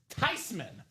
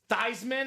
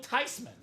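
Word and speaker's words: Theismann: It's actually not pronounced theman anyway. Proper pronunciation is Tyman." So, if you want to actually impress somebody, this name, this man's name is not Theman. Uh, it's not Thyman.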